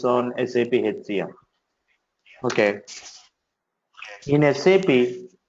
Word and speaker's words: SAP: In SAP, we have to call this word as SAP, not SAP. Okay. You need to pronounce SAP as SAP, not SAP. Many times you hear people talking like SAP. You should not call it as a SAP.